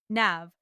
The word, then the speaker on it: NAV: NAV, pronounced NAV, is responsible for child benefits, parental leave, sickness pay, unemployment benefits, disability support, jobseker programs, integration assistance, and much more.